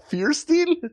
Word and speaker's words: Fierstein: Firestein, is that how you say it? Fierstein? It's F-I-E-R. Not F-I-R-E. It's Firestein.